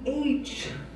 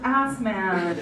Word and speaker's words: Asemaneh: Asemaneh. God, in American that's pronounced ass man.